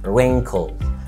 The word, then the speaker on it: wrinkle: عندنا كمان كلمة مثلا wrinkle wrinkle wrinkle، زي لما يبقى عندك تجاعيد في وشك او ليها معنى تاني اللي هو يكرمش في الانجليش، wrinkle wrinkle، يبقى ال W بتبقى silent.